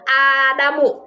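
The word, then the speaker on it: آدم: Kalau Adam pakai hamzah itu nama Nabi Bu ya. Dan panjang Adamu, nggak pakai tanwin.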